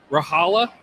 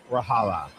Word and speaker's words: Rahala: Rahala. Like Eric Hala. Oh, okay. Rahala.